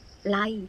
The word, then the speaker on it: กำไล: Ice Like อีก กำไล คำ นี้ อ่าน ว่า กำ ลัย ตำลาย กำลัง จาก ที่